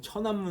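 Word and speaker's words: 天安門: 잘해서 무슨 사건 남 최남 사건이라고 하죠 우리식 발음하면 그죠 천안문 사건입니다 이게 언제냐 19 89년도 중국의 프라의 봄이죠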